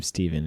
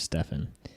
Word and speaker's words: Stefan: it's spelt with katakana my name is spelled German so I decided to go with the German pronunciation we're gonna call this